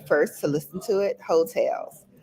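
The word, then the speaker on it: Heaux Tales: to listen to it hotels and it's spelled h-e-a-u-x hotels listen to the album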